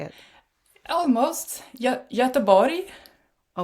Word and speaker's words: Göteborg: Göteborg. Oh, not at all. Göteborg. Yeah, that's the Swedish way of saying it. Yeah. Göteborg.